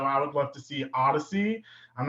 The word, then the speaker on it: Oddisee: So I think it would be so fitting to have Odyssey, and it's spelled Odd, Oddisee.